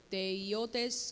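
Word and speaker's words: theiotes: This is theotes. With the I, it changes how you pronounce it. Theotes. Esta es teiotes con This una is I.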